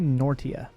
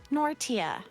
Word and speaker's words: Nortia: It's actually Nortia for future, which is weird again to pronounce things weird, but that's how they pronounce it. Nortia.